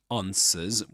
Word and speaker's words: answer: The answer with this long a sound. The answer. Answer. The answer. the answer without pronouncing the final R because there's no there's no vowel sound right after it right after that final sound in the word.